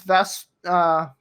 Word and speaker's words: Vestara: The thing is, Vestara. That's how you pronounce it.